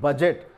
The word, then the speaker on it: budget: तो ये बजट है, तखमीना, लेखा जोखा जो हम बोलते हैं उसमें BUDGET बजट, तो बजट कहा गया है, डी यहाँ पर साइलेंट है।